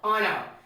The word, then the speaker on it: honour: HONOUR, honor. Now another example we have is what? HONOURABLE, honorable. So we have understood that if See, there are some words that contain H as a silent letter.